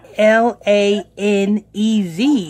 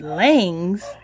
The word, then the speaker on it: Lanez: i mean i mean just pronouncing it correctly is in l-a-n-e-z i mean that's lanez that's not langs because uh brother israel i mean brother q-tip's last name is langs that's l-a-g-n s but anyway rappertory torrey